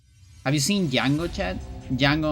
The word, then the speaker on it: Django: Django on chain. The D is silent.